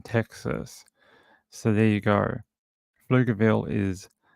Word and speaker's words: Pflugerville: Let me find out how you pronounce this word and where it's close to. Okay, so like Pflugerville. Okay, Pflugerville.